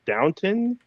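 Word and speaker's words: Downton: kept going for like two minutes but it's pronounced downtown sure sh Wy she also to play Wendy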